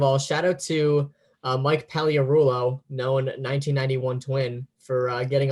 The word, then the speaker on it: Pagliarulo: There's a silent G, yeah. Yeah, it's tough. They always get you with those silent G's.